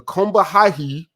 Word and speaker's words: Combahee: I hate pronouncing this. The Combahee, that's how you pronounce it.